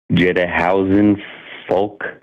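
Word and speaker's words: Djedkhonsuefankh: I think it's Jedahausen folk, but it's like Jedi, but it's like from Egypt with the D.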